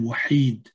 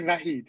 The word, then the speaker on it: Vahid: You write in Gaelic and translate into English, and Vahid, or as I guess your name, Wahid. That's how it is pronounced in Arabic. In Arabic, yes. In Persian, you say Vahid, yes.